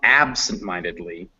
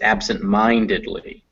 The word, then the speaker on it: absent-mindedly: is the stressed one so it's not absent-mindedly or not absent-mindedly it's absent-mindedly you have to put